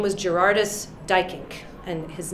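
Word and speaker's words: Duyckinck: So now it's in my notes, Dykink. It's spelled D-U-Y-C-K-I-N-C-K, he was Dutch.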